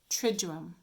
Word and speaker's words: Triduum: But when we pronounce it, we almost have that little J sound in it. Triduum.